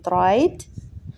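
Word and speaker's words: write: هوم يذهب الى المنزل نركز على نطق كلمه رايت مش بنطق الدبليو لان حرف الدبليو في الكلمه دي سايلنت يعني بنكتبه لكن مش بننطقه رايت رايت نقراهم تاني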